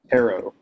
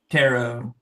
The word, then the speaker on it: tarot: Tarot. Tarot.